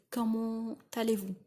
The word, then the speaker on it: comment allez-vous: You've got to say comment allez-vous?